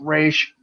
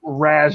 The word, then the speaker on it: Ra's al Ghul: Yeah, I know probably it's pronounced Raish or Raz or whatever, but fuck it. I'm using the movie's pronunciation, Ra's al Ghul.